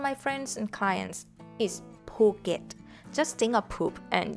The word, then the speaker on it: Phuket: have heard from my friends and clients is poet Just Think A poop and you get It Right is Simply pronounced poet ภูต the next one is Also quite Popular